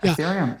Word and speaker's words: Ethereum: Ethereum in particular, am I pronouncing it right? Ethereum? Yeah, Ethereum.